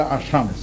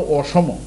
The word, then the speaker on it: অসম: ভারতের একটা এলাকা আছে যার নাম হলো অসম। ইংরেজিতে যাকে বলে আসাম। কিন্তু এটা হলো অসম। অসম অর্থ হলো সমান যে এলাকা পাহাড়ি এলাকা। অসম।